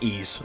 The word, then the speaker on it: Ys: only thing I know for sure with my pronunciation here is ease okay but anyway here's the annex and that's